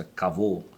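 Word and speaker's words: כבוד: que é alguns diz acabou mas é a pronúncia acabou que significa peso e nesse sentido litoral só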